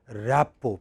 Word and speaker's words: rapport: You may not have the same rapport. Please write, the word is rapport, R-A-P-P, R-A-P-P, P as in Paris, P-P-O-R-T, rapport. Many people pronounce it as rapport, it is not rapport, rapport, rapport.